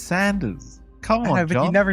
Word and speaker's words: Sanders: I thought he's just a chicken guy, you know, like like Sanders or Saunders or whatever, however you pronounce his name. Yeah, sure. There's no you in it, John. It's Sanders.